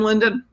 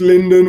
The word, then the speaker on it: Lyndon: has so that's comms comm sbar comms bar linden already gave you his email address but do it one more time London yes just linden which is ly India and I'm fortunate to